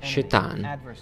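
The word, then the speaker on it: שטן: Questo nemico, la Bibbia lo chiama semplicemente Satana, che in lingua ebraica significa nemico, avversario, che pronunciato in ebraico sarebbe Shetan, colui che va contro.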